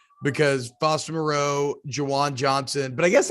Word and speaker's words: Moreau: Like, it is Foster Moreau.